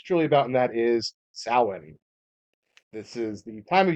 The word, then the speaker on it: Samhain: Now there are different pronunciations. So Samhain Depending, is the Irish pronunciation. I believe the Scottish is more of a it's Samhain.